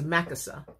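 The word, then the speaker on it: machaseh: M-A-C-H. A-S-E-H, pronounced as Makasa, okay?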